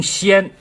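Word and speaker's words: 铦: 那个阔呢是通先，这个先字呢是一个金字旁再加一个舌头的舌，这个字呢读成先先这个字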